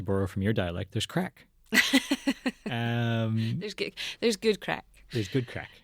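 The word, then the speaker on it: craic: from your dialect, there's crack. Um, there's there's good crack. There's good crack. I want to just make very clear that that is spelled C R A I C and in no other way.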